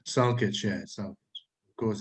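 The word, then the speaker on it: Salkić: How do you prefer it pronounced? Salkic, yeah, Salkic.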